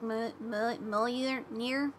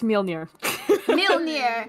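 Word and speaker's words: Mjölnir: it's kind of like millionaire near mullner i can never say it right it's it's mjolnir it's like that the only one that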